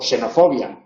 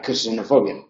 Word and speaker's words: xenofobia: vocal que le precede por eso cuando eh aparece en posición inicial de palabra no se pronuncia como dos tram caso de xilófono xilófono o xenofobia amente se pronuncia como una s pero no se pronuncia xenofobia porque la k no puede formar sílaba ella sola y ante consonante y